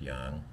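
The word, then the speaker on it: 痒: Yang, third tone, so right at the bottom of your voice box, and it means to itch or to tickle someone.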